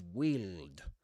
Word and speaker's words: wield: The first one is wield. Wield with a long E sound.